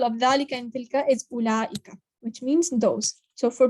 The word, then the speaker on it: أولئك: Oh, and note that the waw in أولئك is not pronounced. So it's not أولئك, it's just أولئك. There's nothing on the waw, so it's not pronounced.